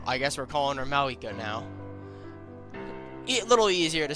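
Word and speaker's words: Mavuika: I've been pronouncing it Mavwika, but apparently it's Mawika. So, I guess we're calling her Mawika now.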